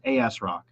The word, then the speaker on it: ASRock: other bar motherboards is asrock say that out loud with me everybody phonetically you're gonna read it capital a capital S Rock if you're Christian mindset you would say as rock yeah you guys get